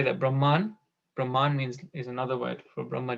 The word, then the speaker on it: Brahman: Then there is Brahman with a long A at the end.